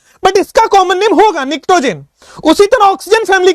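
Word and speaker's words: pnictogen: निक्टोजेन इसको बोलते हैं, पी साइलेंट है, निक्टोजेन।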